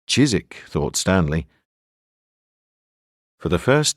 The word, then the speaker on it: Chiswick: her back to chisik Chiswick pronounced chisik thought Stanley for the